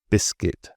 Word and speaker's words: biscuit: So the U is really just there for spelling and clarity. It's not for speaking, as these examples show. So guess, guitar, guard, guest, and biscuit.